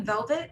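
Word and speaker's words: Velveth: And the last letter in my first name, Velvet, is an H, and it's silent H because it's actually Spanish.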